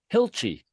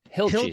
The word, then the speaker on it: Hilchey: Hilchi. Hilchi. Hill like a small mountain and chi like I don't know what it's like. Yeah. That hilly Hilchi.